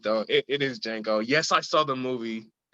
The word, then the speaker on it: Django: samuel l jackson from django django but yeah the d is silent that's a whole line